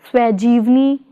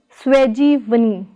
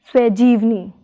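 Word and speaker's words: ਸ੍ਵੈਜੀਵਨੀ: Prefix swa plus stem jeevni is pronounced as swajivni, not as swajivani, but as swajivni.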